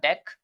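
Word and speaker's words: deque: then again we have deck which is pronounced as Dex even if it's written as D qu e is basically an optimized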